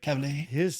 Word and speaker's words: Cavill: Like Cavill.